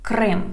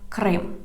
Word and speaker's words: Крим: how to say Crimea in Ukrainian language because Крим – це Україна. Крим, Crimea, Крим. And the full name of the peninsula is the Autonomous Republic of Crimea. Автономна Республіка Крим.